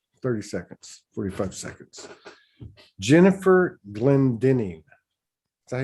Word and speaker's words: Glendinning: Jennifer Glendinning. Is that how you pronounce it?